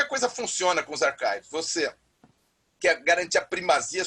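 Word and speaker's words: arXiv: O primeiro foi o archive, a gente pronuncia esse X, é o ki, é grego, se pronuncia em inglês, chives, né?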